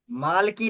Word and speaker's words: मलाकी: हाँ, मलाकी। मालकी नहीं बेटा, मालकी नहीं, उसका प्रोनाउंसिएशन है मलाकी।